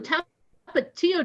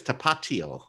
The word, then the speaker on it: Tapatío: We have some Tapatío Doritos, a whole bunch of cupcake-looking snack cakes, and then gummy stuff that's heads and tails and Crush.